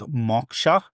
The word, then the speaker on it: Moksha: Well, the term, if you were Indian, you would say you would hard pronounce the O, so it's Moksha, but we definitely say Moksha because we're sort of lazy.